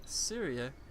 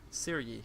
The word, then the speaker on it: Syrie: And then, let's go over here and assign Syria. Wait, how did I just pronounce her name? I think I just horribly mispronounced her name. So Siri, Syrie, that's her name.